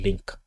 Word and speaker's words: LINQ: So the queries we write is actually written in link. So we use link to to query the database. Link is spelled this way: ILNK Q I link is spelled LINQ.